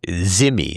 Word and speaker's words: dhimmi: That, in other words, they're treated like dhimmi or zimmi is the way it's pronounced on the Indian subcontinent.